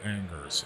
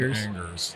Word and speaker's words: Angers: We would say it Angers. It's spelled Angers. Angers.